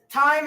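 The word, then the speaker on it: Thyme: And this is time and table. Time. Time spelled the same way as the herb. T H Y M E.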